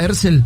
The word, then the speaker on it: Herzl: ¿Así se pronuncia Herzl? Herzl, sí.